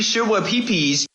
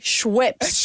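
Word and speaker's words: Schweppes: Co just officially recalled their sugar-free shoa pee peas. What? Sugar-free shoa pee peas. What's sugar-free shua pee pees? Sugar-free Schweps.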